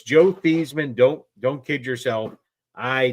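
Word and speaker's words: Theismann: He changed his last name for the Heisman campaign to rhyme with Heisman. So, it's Joe Theesman.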